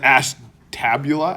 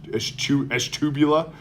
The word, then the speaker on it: Ashtabula: I think I was pronouncing Ashtabula. Ashtabula. But then somebody from from Ohio was in my class and then they were telling me what it was really. It's like Ashtubula is Eshtubula.